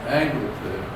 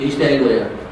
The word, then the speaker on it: East Anglia: So, when you had these American airfields in Angville, if I'm pronouncing that right, East Anglia.